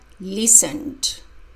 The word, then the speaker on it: listened: of listen teacher Andrea listened listened with d the e d sounds like d the second e is silent I listened to D